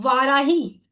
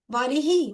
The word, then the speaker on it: वारिही: ओम वाराही, वाराही, वारिही, वारिही, रा के ऊपर छोटी ई की मात्रा आएगी और हा पे बड़े ई की आएगी, वारिही। ओम वारिही देवी नमः।